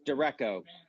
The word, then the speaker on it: derecho: Right, but it's the name of the storm is spelled, it's derecho.